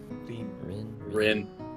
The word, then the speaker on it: Rin: Caprese actually pronounces Reen the Japanese way. Rin.